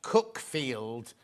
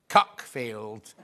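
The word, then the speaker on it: Cuckfield: It's pronounced Cookfield, not Cockfield.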